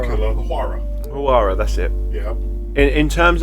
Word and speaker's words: Huayra: Huayra. Dream Killer, the Huayra. Huayra, that's it. Yeah. In terms of like lines, it's similar. No, I would say the Huayra is like more straights and that.